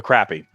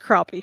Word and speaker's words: crappie: First one, the crappy. Well, it's pronounced crappie.